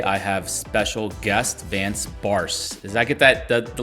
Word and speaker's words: Barse: with me today i have special guest vance barce does that get that the last name pronunciation right there nailed it nailed it all